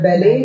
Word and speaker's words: ballet: Then in addition to that, I told you there's a dance form which is called a ballet. It's a very beautiful dance form. So it's like their T is silent.